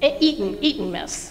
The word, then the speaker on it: Eton mess: Brownies with Eton mess.